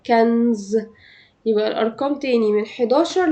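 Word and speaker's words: quinze: اول 11 لحد 16 كنز كنز كنز زي ا رقم خمسه كده زي ما كنت بنطق رقم خمسه خمسه خمسه سانك سانك سانك بيبقى النط مفتوح نفس الكلام مع 15 كانز يبقى الارقام تاني من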